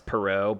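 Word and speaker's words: Parrott: And it's by, I pronounce his name Les Perot, but it's spelled Les Parrot. I think Perot is correct.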